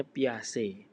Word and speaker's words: Piaget: Nah, tulisannya piaget gitu tapi bacanya piac.